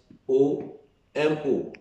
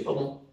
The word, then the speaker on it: Omo: If I say Omo, everybody will just use the English part of it, the pronunciation of English, to look at it and you will get the Isoko part of it.